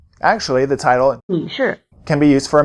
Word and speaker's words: 女士: 女士， Actually, the title 女士。